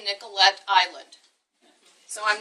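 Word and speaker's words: Nicollet: current site of the Nicolet Island I said it wrong to Nicolette Island I'm getting all of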